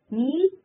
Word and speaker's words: kneel: Kneel K silent.